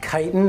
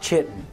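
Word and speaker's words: chitin: As long As long as you know that it's pronounced ky-tin and not chi-tin.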